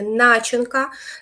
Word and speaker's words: начинка: буде на іншому завданні в нас є начинка наголос на перший склад в нас є позначка